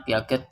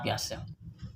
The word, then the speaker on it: Piaget: Ditulisnya Piaget tapi dibacanya Piaget.